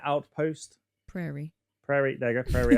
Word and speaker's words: Prairie: Prayer Outpost. Prairie. Prairie. There you go. Prairie Outpost. I said it wrong.